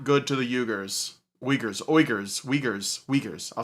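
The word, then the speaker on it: Uyghur: Yeah, it's Waguer. Well, there is a He was pronouncing it the correct way. It's It's a little bit like harsher in the throat area.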